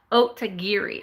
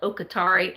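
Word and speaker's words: Otagiri: end up getting comments Oh to geary I always call it Oh Qatari and I know that's not what's called but in my mind that's what it is so that's why I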